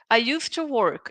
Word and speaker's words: used to: Pay attention to the pronunciation. Because we Brazilians, what do we do? When we say I used to, we try to say the letter D.